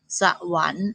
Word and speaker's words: สวรรค์: ว่า จะ น ยา ขัน อ่าน ว่า ขัน สวรรค์ อ่าน ว่า สวรรค์ สรรพากร อ่าน ว่า สรรพากร เห็น